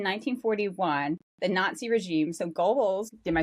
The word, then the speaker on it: Goebbels: they decide in 1941 the Nazi regime so Goebbels, did I say that right? You know, Joseph Goebbels was the propaganda minister. Sure, Goebbels. Goebbels, yeah. I I often mispronounce names and Because because you read them.